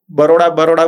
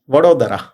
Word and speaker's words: वडोदरा: जैसे हम लोग बड़ोड़ा बड़ोड़ा बोलते हैं, इट इज वडोदरा.